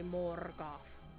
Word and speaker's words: Morgoth: And you have to roll your R's when you say Morgoth.